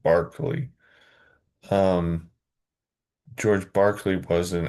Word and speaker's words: Berkeley: It's spelled Berkeley but he was Irish and it said Barkley.